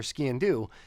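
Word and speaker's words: sgian-dubh: I try to my the trick I use for skin do is say it like skiing but leave off the last G so skin do um for that one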